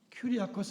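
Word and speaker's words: κυριακός: 아코스 하는 말에서 나왔습니다 우리가 그 CH 발음을 기억자로 발음하기도 하는데 CH이 치라고 하는고 말이나 큐리 아코스 할 때 큐 하는 말이나 같은 것입니다 근데 큐리오스 하면 주님이라고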